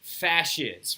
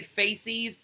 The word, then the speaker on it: fasces: there is called a fasces, right? F-A-S-C-E-S. F-A-S-C-E-S, right? A fasces, right? You will hear me say faces all the time because I've been mispronouncing it for years, apparently.